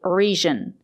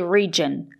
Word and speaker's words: region: not the J sound sometimes the letter G is pronounced with a J sound but not in this case we have to say region with a ju sound like in juice and jump let's look listen to